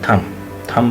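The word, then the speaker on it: thumb: होगा दो होंगे बल्के टी एच यू एम प एम बी एंड प आ गया बी को खत्म कर द थम थम बोले बम बोले क्लाइम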